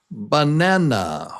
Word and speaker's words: banana: The strong syllable is number 2, nan. So banana.